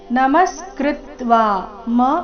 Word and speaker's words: ನಮಸ್ಕೃತ್ವ: ಕೃತಾಂಜಲಿರ್ವೇಪಮಾನಃ ಕಿರೀಟಿ ನಮಸ್ಕೃತ್ವ ಭೂಯ ನಮಸ್ಕೃತ್ವ ಮತ್ತೆ ಕೃ ಮೇಲೆ ಆಘಾತ ಕೃತ್ವ ವ ದೀರ್ಘ ನಮಸ್ಕೃತ್ವ ಭೂಯ ಭೂ ಮಹಾಪ್ರಾಣ